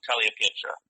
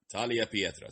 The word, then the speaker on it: Tagliapietra: is a little so it sounds like Talia like Talia like the pasta so Talia Petra Talia Petra Soo Talia Petra all right Italian born